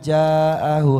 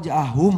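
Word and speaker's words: جاءهم: Bayyinatin qalal ladzina kafaru lil haqqi lamma ja'ahu hadza sihrum mubin. Ada yang salah? Harusnya apa? qala alladzina kafaru lil haqqi lamma ja'ahum ha. Oh, ja'ahum harusnya.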